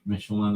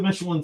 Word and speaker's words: Michelin: Michelin apparently rhymes with pickle my knee.